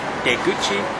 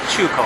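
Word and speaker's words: 出口: So you put them both together, going out and mouth, you get in Japanese deguchi, and in Chinese chuko, which means exit.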